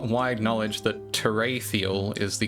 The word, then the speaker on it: Terathiel: full uh it is not wide knowledge that terial is the correct original intended pronunciation I get a lot of teral teral I don't really care all so more